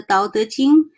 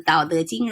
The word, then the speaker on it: Tao Te Ching: Wen Dyer's, he pronounced this Taoteching, but it's okay. But basically now a lot of people do read the Tao Te Ching, it's like a Daodejing.